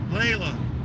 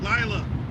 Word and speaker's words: Lila: My mom and dad thought the baby's name was Layla. I kept saying, no, Lila. Not Layla, Lila.